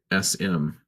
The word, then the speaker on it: Sikhism: You pronounce it. It's Sikhism.